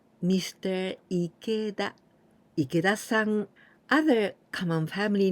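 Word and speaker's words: 池: is just the same this new Candy we pronounce Ike means Pond and also in oyami we can pronounce Chi the same as here TI because this right part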